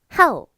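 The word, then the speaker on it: 号: 그 다음에 일이라는 것은 바로 하우 라고 합니다 4 성으로 발음 하셔야 되요 하 욱 하오 워렌 위에 일은 하우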